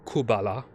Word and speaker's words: Kabbalah: Raziel is the angel of mysticism, specifically the guy who, the demon that introduced the Kabbalah, or Kubala, it's spelled with a Q, in Arabic, Babylonian, Mesopotamian, Persian, because there is Sassanid Persians actually have a tremendous amount of Semitism.